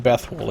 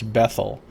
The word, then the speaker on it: Bethl: letter u right so her name is bethl actually it's not Bethal it's bethl that's the appropriate uh pronunciation anything I can steal